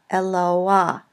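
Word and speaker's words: אֱלוֹהַּ: And the pronunciation of the word is eloa, eloa. So it's written underneath the consonant, but is pronounced before it.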